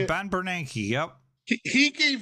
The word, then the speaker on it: Bernanke: Ben Bernanke, yep.